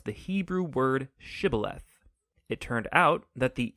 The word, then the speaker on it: shibboleth: wanted to cross to pronounce the hebrew word shibboleth it turned out that the ephraimites had grown up pronouncing that word differently so instead of saying shibboleth they would say sybileth when that happened the gili knight guard would